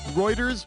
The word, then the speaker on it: Reuters: throat last i checked reuters rhymes with goiters what do you want